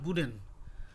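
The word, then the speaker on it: wooden: এন ব্যবহার হয় না, এটা প্রোনাউন্সিয়েশনটা হয় বুডেন।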